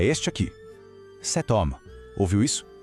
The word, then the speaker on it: cet homme: Cet homme. Ouviu isso? Aquele T no final de set parece que nem existe, mas ele ressurge para se conectar suavemente com o som do O de homme.